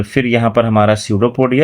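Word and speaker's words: pseudopodia: यहां पर P silent है। तो ये सडोपोडिया हो गया।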